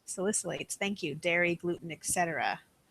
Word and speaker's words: Salicylates: Hi, I don't know if I can pronounce this right. Salicylates. Salicylates.